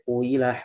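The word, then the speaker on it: قيل: Nah, cara bacanya, kalau memakai pendapat yang sampai kuila, huila, suyiko ini, cara bacanya adalah dengan ismam. Nah, isyarat di sini mencampur sekaligus ada isyarat monyongnya. Enggak, ya isyarat dhammahnya lah, tapi tidak secara sempurna.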